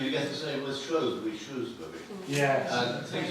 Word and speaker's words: Shrewsbury: And you get the same with Shrewsbury.